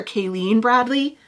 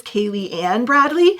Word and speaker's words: Kaylee Ann Bradley: I think when I was doing this intro, I called her Kayleen Bradley. I believe you pronounce this Kaylee Ann Bradley.